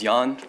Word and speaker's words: Jan: Jan. Did I say that right? No, sadly, it happens all the time. Proper pronunciation is Jan.